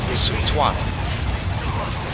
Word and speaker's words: Sun Quan: Like, even though that says Simi Yi, is actually pronounced Sumi Yi, and Sun Quan is actually pronounced Sun Tuan.